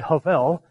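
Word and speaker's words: הבל: in saying them and Havel in Hebrew when you pronounce it that way it's two breaths of hell and you actually have to breathe out as you're saying it and so even in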